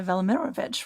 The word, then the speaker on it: Velimirovich: And for our audience, that's Saint Nikolai Velimirovich, right? How do you pronounce his name?